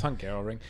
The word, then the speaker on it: Hungaroring: It's Hungaroring. It was just some weird guy. We just watched the Inside Grand Prix show they put out every week. The host, the narrator, he kept saying the Hungaroring.